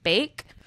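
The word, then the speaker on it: Baek: So Sophie, I think her last name is pronounced Bake, has been forced to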